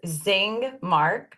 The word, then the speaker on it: Zingmark: Tell us how to say your last name and how to spell it. Yes, Zingmark, z i n g m a r k.